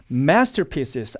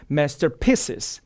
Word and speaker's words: masterpieces: 그다음에 masterpieces 앞쪽에 가야 되는데 masterpieces, master 뒤쪽으로 가버리거든요. 이러한 실수를 지금 보여주고 있습니다.